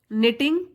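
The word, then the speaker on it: knitting: निटिंग अ woollen scarf निटिंग के silent है इसमें इसका मतलब है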